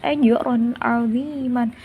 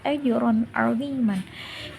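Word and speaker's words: أَجْرًا عَظِيمًا: Cara bacanya jelas, ajrun 'aziman, bukan ajrun 'aziman. Salah ya, harus bacanya harus jelas, ajrun 'aziman.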